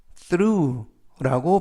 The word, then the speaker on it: through: 되겠습니다 2번 표현은 through라고 발음하시면 되겠고요 이때는 번데기 발음이 되겠습니다 그리고 맨 끝에 있는 gh이 단어는이 알파벳은 모음이라 어 발음이 되지 않고요 그래서라고 발음하시면 되겠습니다 품사는 전치사 뜻은 통해 통과해서라는